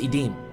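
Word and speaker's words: עדים: So the Hebrew term here used for filthy rags is pronounced edeim and it's strongly expressive.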